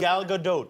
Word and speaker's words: Gal Gadot: And before anyone makes a comment that I'm pronouncing her name incorrectly, here's how she says it. Did I pronounce your name correctly? I didn't hear the way you... Gal Gadot. Oh, you're good.